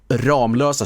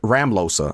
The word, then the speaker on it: Ramlösa: Ramlösa shows up. And he pronounced it Ramlosa.